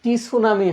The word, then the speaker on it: tsunami: TSUNAMI, টি সুনামি হয়, টি সুনামি, বানানটাও গুরুত্বপূর্ণ কিন্তু, টি সুনামি। সুনামি আমরা স্বাভাবিকভাবে কি এস দিয়ে উচ্চারণ করবো, বাট এইখানে কি টি সুনামি এইভাবে উচ্চারণ হচ্ছে, ঠিক আছে।